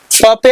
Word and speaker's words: पंप: जैसे इसको क्या पढ़ेंगे प पे अनुस्वार प, इसको हम यहाँ पे म के उच्चारण प पे अनुस्वार प, तो इसको पढ़ेंगे पंप, इसको पढ़ेंगे पंकज।